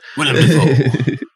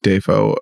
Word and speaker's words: Dafoe: about how family called it Dafoe or Duffo.